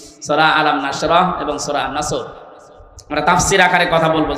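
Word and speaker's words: نصر: আর বাকি আয়াতে না তিনটা সূরা তিন আসর নসর কাউসার তার ভেতরে একটা পড়েছি এটা তেলাওয়াত শুদ্ধ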